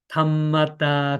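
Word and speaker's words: ธรรมดา: 탐 마다 (Thammada) 는 차분 한 어조로 정확 하게 읽으세요 .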